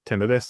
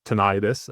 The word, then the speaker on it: tinnitus: tinidis or what is tonidis as as some people pronounce it as well. Um so Beth what is it? Great question. Thotinitis or tonitis both are perfectly acceptable pronunciations of the word is the perception of